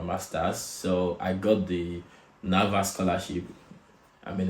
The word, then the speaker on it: NAWA: so I got the NAVA scholarship. I mean, it's pronounced Nava, but it's spelled as Nawa.